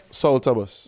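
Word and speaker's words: Soufrière: in a very British see say it say it properly now salus salus salus B us or P us B salus Sala bus salta bus okay salta bus man yeah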